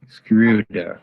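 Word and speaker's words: Schröder: hear from you how is your last name pronounced screwdriver screw there okay thank you and just a follow-up question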